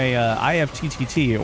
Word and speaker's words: IFTTT: I got my IFTTT, or IFT is how they pronounce it, or they want us to pronounce it, setup done.